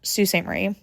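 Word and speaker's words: Sault Ste. Marie: Look up Sus Marie. I will put it on the screen here so you can know how to spell it because it's not spelled like it sounds like it is.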